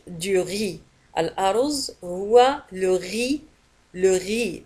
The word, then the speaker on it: riz: الأرز هو le riz, le riz. وتنتهي بالزد ولا تنطق.